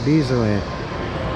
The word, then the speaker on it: Dezerland: I said it wrong, Dezerland.